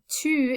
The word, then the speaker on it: tu: and there is voo notice that the vowels sound a little bit different tu is spelled with just one u and that's that french you i taught you about in uh chapitra it's that sound where you kind of say ee first and then make your